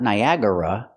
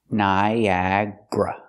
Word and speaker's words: Niagara: Niagara Falls pronunciation not Niagara it looks like four syllables but we pronounce it with three Niagra Niagra put the stress